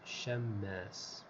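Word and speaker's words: شمّاس: Wal-mim al-mushaddada, the mim in this word has a shadda. So the correct pronunciation of this name is Shammas.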